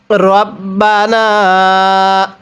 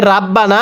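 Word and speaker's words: رَبَّنَا: রব্বানা পড়ুন আমার সাথে রব্বানা অনেকেই আমরা এই শব্দটিকে রাব্বানা পড়ি যদি রকে রা পড়ি তাহলে পড়াটা সহি শুদ্ধ হবে তাহলে কিভাবে পড়তে হবে?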